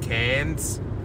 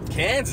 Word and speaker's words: Cairns: I'm also saying Cairns. Cairns is good. Yeah, good pronunciation.